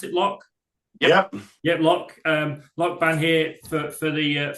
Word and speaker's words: L.O.C.: Is that how you pronounce it, L.O.C? Yep. Yep, L.O.C.